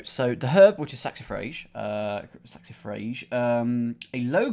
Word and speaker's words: saxifrage: about to find out according to the Oxford English Dictionary it said saxifrage sax if rage uh